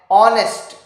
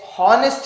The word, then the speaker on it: honest: beginning with a consonant the word is beginning with a consonant but the sound the starting sound is a vowel sound okay because h is